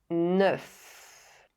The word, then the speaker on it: neuf: Neuf doesn't end with a silent consonant, but its f sound is pronounced the with heure and en. With all the other words, the consonant f is not silent and it is pronounced f.